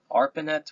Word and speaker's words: ARPANET: So the internet began in the late 1960s with a project called um Arpanet which is spelled out a r p a ne t.